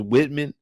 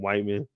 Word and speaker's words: Whitman: y'all just don't know his name is Whitman or y'all think the E is silent or y'all might just be saying white man I don't know but